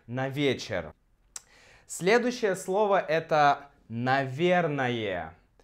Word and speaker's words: наверное: Следующее слово это «наверное». И когда мы произносим его быстро, мы отменяем последнюю гласную. Наверное. И также мы меняем О на А, потому что ударение у нас здесь.